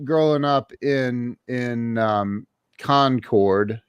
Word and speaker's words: Concord: up in in um concord you said concord that's correct not conquered it is concord when you're important what